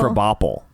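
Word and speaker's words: Krabappel: Crabapple, but they pronounce it Crabapple.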